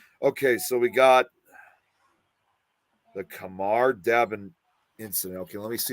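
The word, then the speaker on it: Khamar-Daban: Yeah, the Kamar Dabin incident. That's how it's pronounced.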